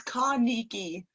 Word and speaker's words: Carnegie: cut what ha Nikki Thank You Jacqueline right so it's Carnegie perfect perfect pronunciation thank you and you